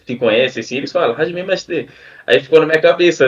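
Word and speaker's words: はじめまして: Se fala Aham, Hajime Mashite. É que é difícil, a pronúncia é difícil, que é japonês, né, mano?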